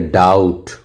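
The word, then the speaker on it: doubt: यहां पर देखिए डाउट यहां डाउट डाउट नहीं कह रहे हैं। यहां पर टी के पहले बी आया इसलिए इस बी को क्या किया जा रहा है? साइलेंट किया जा रहा है। यहां बी क्या है? साइलेंट है। यहां बी क्या है? साइलेंट है। क्योंकि टी के पहले आया है।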